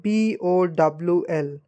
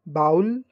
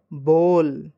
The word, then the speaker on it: bowl: use in our home so it is like b o w l so what do you pronounce it most of the people used to say bowel no the correct pronunciation of this word will be Bowl it will be Bowl it is written like